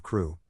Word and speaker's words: Crewe: Madame Pascal pronounced it as if it were Carew instead of Crew, but that might be merely a matter of pronunciation.